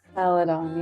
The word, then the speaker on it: Celadon: the first one since it's called what celadan Celadon yeah pronouncing that correctly so so why is that